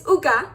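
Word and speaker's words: עוגה: It's the word for cake, and the way that you say it is uga, and the way that you spell it is ein vav gimel he.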